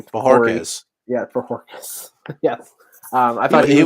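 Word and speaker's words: Bojorquez: How do you pronounce his name? Corey. Bajorquez. Yeah, Bajorquez.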